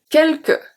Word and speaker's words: quelque: Quelque, quelque. So here, all the U after Q are silent, we saw that. And then the S is silent as well.